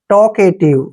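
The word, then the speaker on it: talkative: टी पढ़ते हैं और ी ई को व टॉकेट ऐसे बोलते हैं इसको टॉकेट टॉकेट होता है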